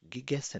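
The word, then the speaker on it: gegessen: जो एसन का past participle है या एसन की पास्ट फॉर्म है दस heist गिगेसन pronounce me गिगेसन गीगेसन गिगेसन गीगेसन इज पार्टिसिप्स wife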